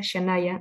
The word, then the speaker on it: Shannyah: Para mí un placer estar acá y bueno, el nombre se pronuncia Shanaya, no hay ningún problema,